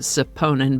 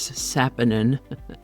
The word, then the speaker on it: saponin: Today's word is Saponin. I keep wanting to pronounce it Saponin, but it is Saponin.